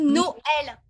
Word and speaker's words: Noël: d'accord leur fait que le tréma veut dire qu'on sépare la prononciation des deux lettres ont dit noël me voilà donc sans